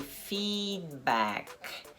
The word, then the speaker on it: feedback: "feedback" Ele vai ser "feedback". É um "I" longo. Esse ïzinho" aqui ó! os dois E's fazem um "I"longo. "Feedback" O D é muito sutilmente pronunciado. Feed E o K também. Feedback.